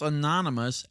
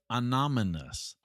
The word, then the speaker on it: anonymous: law via tweet, and pronounce anonymous as anominous. Let's dive in.